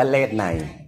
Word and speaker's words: เลศนัย: อางค์ เลข ใหม่ น่ะ เรา ไม่ อ่าน ว่า เลข อัน นี้ อ่าน ว่า เลศ นัย เออ สอ สา ลา ไม่ ออก เสียง คือ มัน พิมพ์ เยอะ